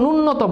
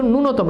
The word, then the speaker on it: ন্যূনতম: এটার উচ্চারণ ন্যূনতম না, এটার উচ্চারণ হচ্ছে ন্যূনতম, এবং মনে রাখবে এখানে দীর্ঘিকার হবে, ঠিক আছে।